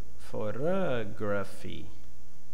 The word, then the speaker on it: photography: And the second example, we have the first syllable using the being represented by the schwa, pho, weak sound, unstressed syllable. In the second one, like a stressed syllable, being represented by the normal sound, photography, right?